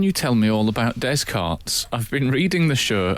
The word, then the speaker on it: Descartes: René Descartes, the philosopher, was described by Al as Descartes Yeah. instead Yes. of Descartes.